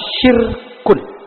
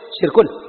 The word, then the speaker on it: syirkun: Kita mengenal istilah syirkun. Bukan sirkus, syirkun. Syirkun pakai sin besar, syirkun. Ketika diucapkannya dengan wakaf menjadi syirik.